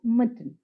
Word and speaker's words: mutton: mutton in this word though there is a vowel in the second syllable we do not pronounce it we just pronounce it as mutton the same with the